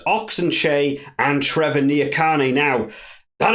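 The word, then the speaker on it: Ox Nché: Vincent fans Mark Herbert I believe it's pronounced oxenshay and Trevor niacani now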